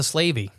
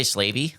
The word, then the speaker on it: Slavey: All right, let's talk about the Slavey. I think that's how it's pronounced. It's Slave, which is slave, right? Yeah. Why? I would say Slavey. That's how I think it's pronounced.